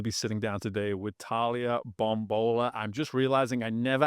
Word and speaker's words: Bombola: so excited to be sitting down today with Talia bombola I'm just realizing I never asked you how to pronounce name did I nail it perfect we're